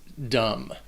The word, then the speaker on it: dumb: word number 25 is dumb and the only thing and the only thing you need to know about this word is that the bee is silent dumb what's going to be